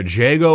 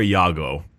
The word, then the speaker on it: Jago: Some people pronounce it with like a Y. But it's Jago. So it's either Jago or Jago. Depends on exactly how you want to call it.